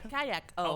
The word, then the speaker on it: Kayako: It's like kayak but with an O. Oh, Kayak O.